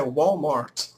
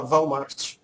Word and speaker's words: Walmart: A pronúncia em inglês é Walmart, mas eu gosto de falar Walmart.